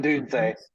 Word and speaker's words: Odunze: Odunze.